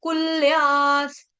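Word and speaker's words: कुल्याः: कुल नहीं है यहां पे कुल आधा ल कुल्या कुल्या के आगे जो विसर्ग है उसका उच्चारण आधा स कुल्यास उसके बाद सरस सरस शब्द बहुत आसान है।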